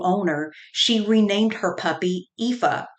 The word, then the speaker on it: Aoife: she renamed her puppy epha spelled a o I Fe after a female heroine in Irish mythology the name in Irish gelic means beautiful and is pronounced EA Heidi had 30 years